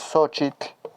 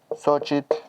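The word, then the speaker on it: xochitl: el idioma nahat es sochit sochit Recuerden que aquí la x suena como una sh muy suave y aquí la ch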